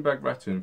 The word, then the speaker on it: Bagration: know how to say it now so operation back return for those who don't know was a very